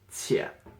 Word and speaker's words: 且: This is a character by itself, and this is pronounced 且.